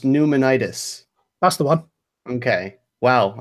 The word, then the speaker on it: pneumonitis: vibe innate certifying okay so Lena says it's pronounced pneumonitis that's the one okay Wow and then I